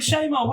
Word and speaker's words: Chez Moi: I was like, Chez Moi, where's that? At least you pronounced it right.